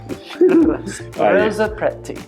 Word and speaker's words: Strozzapreti: Strozzapreti. You're fine. Strozzapreti. I should have warmed up. You didn't tell me. I'm not warmed up. So again, it's my fault. Strozzapreti. Yeah, do the roll R's.